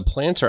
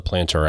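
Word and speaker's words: Plantr: using this app and the planter app which is spelled p l a n t r is available in your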